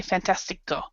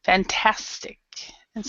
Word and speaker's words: fantastic: We wouldn't say fantastico. Fantastic. That's how you pronounce.